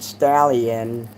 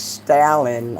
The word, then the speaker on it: Stalin: Only the girl was pronouncing it Stallion. And I'm waking up, I'm like, "It's Stalin."